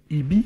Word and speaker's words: EBE: IBI, en quelque sorte. On prononce IBI.